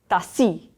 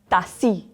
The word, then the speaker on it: tassi: There's a double S. Tassi. Tassi.